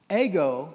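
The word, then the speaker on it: ἐγώ: That phrase, it is I, is ego, that's the way it's pronounced in Greek, eimi. Ego, eimi.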